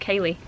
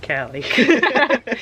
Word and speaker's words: Kali: How do you know it's not pronounced Kaylee? Because I said Callie.